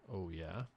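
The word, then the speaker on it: Ouya: one new company called oh yeah pronounced oh yeah and that's o u y a proposes to take on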